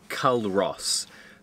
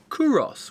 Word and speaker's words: Culross: This, up until about 10 minutes ago, we thought was called Culross, but from the quick research we've done, we think it's pronounced Culross, which would make it